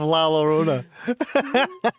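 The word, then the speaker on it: La Llorona: The curse of Laorona. It's typed frantically. I believe the double L is pronounced as a a Y like your honor.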